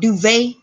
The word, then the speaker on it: duvet: What is called duvet, duvet is a VAY. If that was an R, that would be Ray.